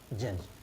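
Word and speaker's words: judge: अब ऐसे ही सेम ये है, GUDGE, इसको क्या पढ़ेंगे, जज, ये रहा रूल नंबर 3, ठीक।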